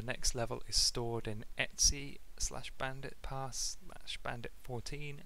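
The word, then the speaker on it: etc: protocol so for one i called this etsy that's just how i've heard it been pronounced before this folder just in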